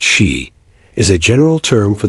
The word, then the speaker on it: Sith: The word Sith, pronounced she, is a general term for the supernatural race from Gaelic mythology.